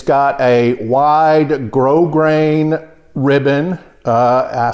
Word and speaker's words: grosgrain: It's got a wide grosgrain ribbon. I say in all my videos, it's spelled G-R-O-S-G-R-A-I-N, but it's not pronounced gross grain. It's pronounced grosgrain, and that just means it's a textured ribbon.